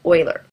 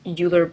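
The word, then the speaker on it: Euler: as well querian and Oiler it looks like it's uler but I've been told it's pronounced Oiler so quaternium is very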